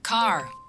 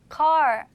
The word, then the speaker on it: car: 따라해 보세요 씨도 그대로네네 car car 카 카 좀 다르죠 그런데에 이제 R 사운드가 없다고 해서 어 소리가 그냥 짧아지는 건 아니고 앞에 있는 아 발음을 조금 길게 한다고 생각하시면 돼요 자 다른 단어